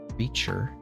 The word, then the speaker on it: creature: dearest creature in creation creature creature the t is CH creation is an sh sound dear creature in creation